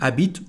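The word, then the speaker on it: habite: As you can see there is a first consonant here because there is an h. We don't pronounce it.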